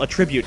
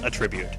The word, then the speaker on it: attribute: often has an elemental attribute to it as well. For instance, this one will be a Venus attribute. And attribute? Attribute. Let's put the emphasis on the right syllable there, Jake.